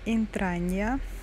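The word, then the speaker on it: Intragna: Тичино, как мне говорят, это называется деревня Интранья, пишется Интрагна, но читается Интранья, да?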